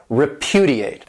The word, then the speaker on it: repudiate: another great verb repudiate this verb has four syllables and the stresses on that second syllable repudiate and this means to